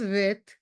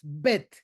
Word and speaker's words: Bet: Luego hay letras que se pronuncian labiales, como Bet, Bet. Los labios son los que están involucrados con la pronunciación. No es Bet, como dicen algunos, no, es Bet, explosiva.